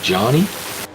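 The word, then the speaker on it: Jhony: Cuz he Benjamin said it's pronounced like Johnny. Oh, it's pronounced like Johnny.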